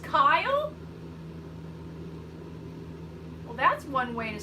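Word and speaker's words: Kjell: but that's why I thought K-J-E-L-L would be pronounced shell. So it was a guess, so I don't know for sure. Oh, it's pronounced Kyle?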